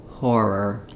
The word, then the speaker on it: horror: If the H sound gives you difficulty, what you want in this word is that the H is just some air blowing through your throat and your mouth is already in the position for saying the or sound.